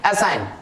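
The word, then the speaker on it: assign: So next rule जो है, English words में एन से पहले अगर जी आता है तो जी हो जाता है साइलेंट, फॉर एग्जांपल असाइन, इसको पढ़ेंगे असाइन, एन से पहले जी आ रहा है, right, that's why it will silent, ji असाइन, साइन, रिजाइन, डिजाइन।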